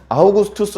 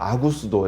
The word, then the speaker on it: 아구스도: 아우구스투스를 왜 아구스토라고 쓰냐면요, 성경에서는 발음을 세게 하면 안 돼요. 발음 야하게. 피터 아니고 베드로고요. 아우구스투스 안 됩니다. 아구스도 이렇게 해야 돼요.